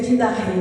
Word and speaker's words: Didaquê: A gente lê Didaquê, mas se pronuncia Didarrê.